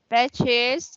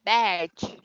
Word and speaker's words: badge: Batches nghĩa là cái huy hiệu ha. Rồi mình đọc là badge.